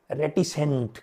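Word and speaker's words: reticent: तो that is called रेटिसेंट। क्या बोलते हैं? रेटिसेंट। अब ध्यान रहे यहां प्रोनाउंसिएशन का बहुत चक्कर रहता है।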